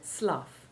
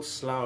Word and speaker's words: slough: by pronunciation the word slough with the ou7 sound running with tough means the skin shed by a snake or by a person with a skin disease or it can be used as a verb meaning to shed skin but with the ou1 sound means a marshy swamp